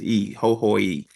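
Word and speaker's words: Hohoe: library was near Togo the school was in hooy it's spelled ho ho but it's the E is pronounced e ho ho e um and I I noticed I had misconceptions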